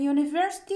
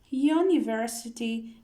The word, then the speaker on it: university: a a uniform and university is pronounced like you uniform university university it begins with u sound so we put a before university a university now we